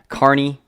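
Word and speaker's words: Kearney: you talk about that Carney even though it's spelled Kerney it's spelled Carney like the circus Carney I don't know if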